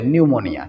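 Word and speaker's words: pneumonia: আমরা এই ভুল অপশনগুলো দেখবই না ভাই, কারণ সঠিক আনসারটা কি নিউমোনিয়া, এই পিটা সাইলেন্ট থাকে, তাহলে পি নিউমোনিয়া তোমরা বলতে পারো, পি নিউমোনিয়া, কিন্তু উচ্চারণ কি হবে নিউমোনিয়া, ঠিক আছে।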